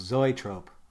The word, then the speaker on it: zoetrope: So the word is actually pronounced zoetrope.